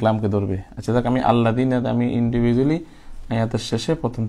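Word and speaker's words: الذين: আল্লাযিনা আল্লাযিনা আল্লাযিনা আল্লা আল্লা দিনা দেনা, আল্লাহ দেনা বলা যাবে না, বলতে হবে দিনা, যেহেতু জের উচ্চারণ রশিকার হয়।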